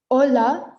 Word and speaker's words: hola: the end so remember h is silent so for h our examples are ola so here we don't pronounce the h so we don't say